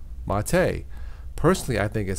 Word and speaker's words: mate: used to make infusions in a beverage called mate personally I think it sounds delicious I wouldn't